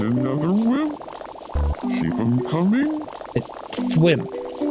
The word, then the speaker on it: Thwimp: Thwimp, not wimp.